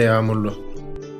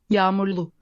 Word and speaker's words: Yağmurlu: Hava hem soğuk hem de yağmurlu. Kalın giyin. How is that word pronounced? How interesting is that? Yağmurlu. Yağmurlu.